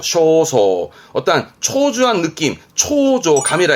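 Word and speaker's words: 焦燥: 것 초조함 있니다 초조한 거 애타는 겁니다 초조한 발음은 쇼소 쇼소 어떠한 초조한 느낌 초조 감이라 해서 소간 소간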